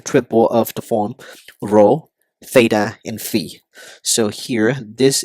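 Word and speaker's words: θ: by the order triple of the form row Theta and Fe so here this is pronounced as row this is Theta and this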